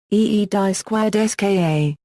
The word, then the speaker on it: Gdańsk: In Polish the modern name of the city is pronounced, Gdańsk.